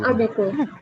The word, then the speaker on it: ABG: Abiku. Oh bukan. Nah, dibacanya itu abiku.